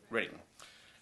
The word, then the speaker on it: Reading: You pronounce it Reading or Reading? Reading.